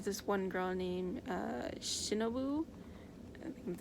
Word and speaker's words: Shinobu: i mean there's this one girl named uh shinobu i think that's how you say her name um is she in the final chapter let me see um it's definitely shinobu i believe either way uh she clearly likes